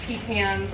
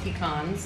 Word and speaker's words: pecans: these for example this is pecans or pecans depending on how you say it macadamia nuts uh almond